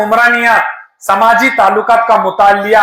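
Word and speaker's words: Comte: दोनों ज खासियत अगस्त कोमते एंड इमली डरकिम इनके वर्ड्स के ऊपर देखने का किस तरह से वर्ड प्रोनाउंस होता है तो समझ लेने का ये फ्रेंच वर्ड्स है क्या कौन सा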